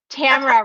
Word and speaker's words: Tamara: t tamara just kidding tamara rhymes with camera we were just joking